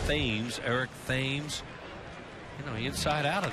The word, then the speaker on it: Thames: Pronounced Thames, Eric Thames.